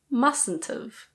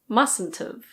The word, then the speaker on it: mustn't've: Must not have becomes mustn't've. Mustn't've. Yes, the first T is silent, so it's mustn't've.